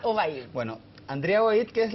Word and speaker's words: Obaid: el estudio de Canal 24 Horas, doña Andrea Obaid. ¿Obaid o Obaid? Obaid. Obaid, sí. con el acento. Así. No tiene acento, pero se pronuncia Obaid.